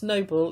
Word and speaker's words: noble: And apparently this is how you pronounce noble in French.